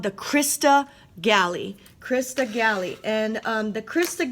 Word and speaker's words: crista galli: there see it and that is called the crista galli crista galli and the crista galli what do